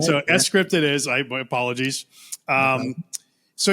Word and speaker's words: sCrypt: Is it, and I mean sCrypt, is it sCrypt or is it sCrypt? Oh, it's sCrypt. Okay. Yeah. So, all right, off to a good start. Right, so, sCrypt it is.